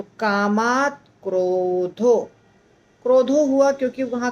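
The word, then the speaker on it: कामात्: कामात क्रोध अभि जायते तो कामात आधा त और क्रोध और उसके बाद अभि जायते सब जुड़ गया कैसे कैसे हो गया इसमें कामात का आधा त क्रोध के साथ जुड़ा तो कामात क्रोध क्रोध हुआ क्योंकि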